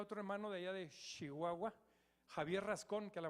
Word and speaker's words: Chihuahua: y allá en chihuahua de allá es el chihuahua por favor se pronuncia bien chihuahua chihuahua se pronuncia bien cuando yo lo conocí